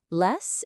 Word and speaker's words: les: Les is lay with a silent S.